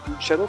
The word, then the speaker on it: Luciano: Alors ça ne va pas se prononcer Luciano parce que c'est un Brésilien.